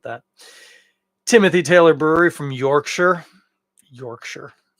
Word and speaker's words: Yorkshire: Timothy Taylor Brewery from Yorkshire Yorkshire it's fun to say don't say Shire it's Yorkshire uh we're getting a